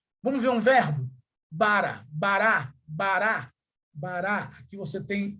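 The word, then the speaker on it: ברא: Bará, bará. Então, bará, a transliteração é bará, a pronúncia é bará, e em português é criou, Bereshit bará, no princípio criou.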